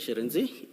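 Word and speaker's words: Shirintzi: Sharenzi.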